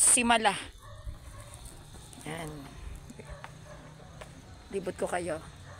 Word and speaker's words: Simala: So, Simala. Ayun yung tamang pronunciation. It's Simala.